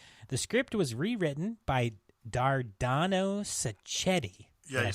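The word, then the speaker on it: Dardano Sacchetti: shot in Italy the script was Rewritten by dardano saetti yeah you said it right congratulations yes that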